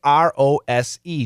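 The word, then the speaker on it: rosé: also International Rose day Rose the spelling r-o-s-e just like rose the flower but this is a French word and the pronunciation is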